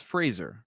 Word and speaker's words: Fraser: And I started to see more and more interviews come out where he said, it's Fraser, Brendan Fraser.